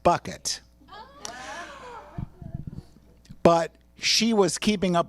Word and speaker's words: Bucket: She was so amazing because the last name is pronounced Bouquet, except it's really pronounced Bucket.